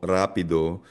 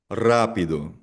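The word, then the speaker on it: rápido: So for example, ang letter R, kapag ang simula ng salita ay letter R, ang basa dito ay hindi roho rio, rapido kundi rojo rio, rapido.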